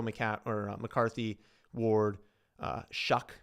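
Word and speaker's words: Shough: When you go Mac or McCarthy, Ward, uh Shuck, it's pronounced Shuck apparently.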